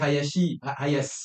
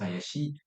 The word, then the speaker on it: Hayashi: s'appelle Hayashi, mais en fait en réalité ça se prononce Hayashi.